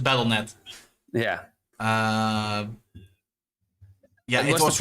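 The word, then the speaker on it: Battle.net: Battleet is uh Battleet. Sorry, that was Yeah, you you pronounce it battleet.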